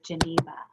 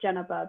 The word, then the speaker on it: Geneva: Okay, and next to May, I see Geneva. Hi. It's actually pronounced Geneva, but it's okay. Everyone gets it wrong.